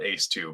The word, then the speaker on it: ACE2: We just call it ACE2, but it's ACE is how it's spelled, like a fighter ace or something, fighter pilot ace.